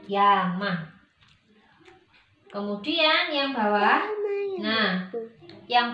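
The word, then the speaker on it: 山: Jadi kalau kanji gunung ini dia ditulis sendirian, nggak ada temennya, kita bacanya yama. Tapi kalau dia ada temennya, ada pasangan kanji yang lain, maka kita bacanya sang ataupun zang.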